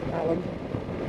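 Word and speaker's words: Alleyn: guy called protected inspector Alan spelled Elaine but pronounced Allen he was a I was almost a regular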